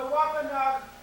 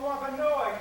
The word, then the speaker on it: Wampanoag: It is an honor to be in the homeland of the Wampanoag or Wampanoag, as they're pronounced, depending on what clan you're talking to.